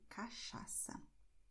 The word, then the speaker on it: cachaça: And this combination here, CH, has the sound of show. So you say cachaça.